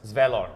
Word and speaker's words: Svalor: S-V-L-O-R. That's how you say his name. S-V-L-O-R. Yes. Svalor.